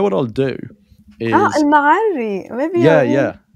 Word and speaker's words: Al-Ma'arri: Are I feel you like aware this of is Al-Mari? Almari. Maybe you are pronouncing I it might be weird, pronouncing it wrong, and that's only part of his name.